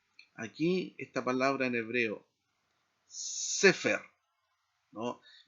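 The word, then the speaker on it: סֵפֶר: Si no estuviera este signo, tendríamos que leer cefer, porque la regla nos dice que generalmente las palabras en hebreo que no tienen acentos se pronuncia o se enfatiza el acento en la última sílaba.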